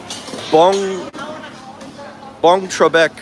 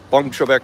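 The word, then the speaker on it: Boeng Trabek: So the bong is spelled weird. I forget how to do it. B-O-E-N-G or B-E-O. I think B-O-E-N-G. B-O-E-N-G and then Trebek, like Alex Trebek. Bong Trebek Plaza.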